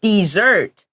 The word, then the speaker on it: dessert: r t yeah also the pronunciation is different you say dessert for the sweet food and desert for the the the place that is very hot yes so that's a